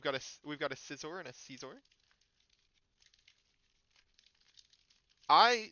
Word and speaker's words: Scizor: I say Scizor more than I say Caesar because I originally said Scizor. Then I got told I got corrected that it is Caesar. And then I watched the anime and found out that the person that corrected me was wrong. It is in fact Scizor which is further proven by the fact that Scyther is paper, Scizor is scissors and Cleor is rock